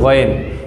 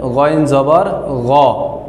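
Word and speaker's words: غَ: তারপরে আমাদের যে হরফটি রয়েছে সে হরফটি হচ্ছে গইন। এই গইনকে যখন আমরা জবর দিয়ে উচ্চারণ করব তখন উচ্চারণ হবে গইন জবর গ, গইন জবর গ।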